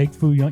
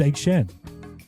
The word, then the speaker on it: Egg Shen: you kept calling him Egg Foo Young. You were adding syllables. You were just making it longer. Yeah. His name's Egg Shen.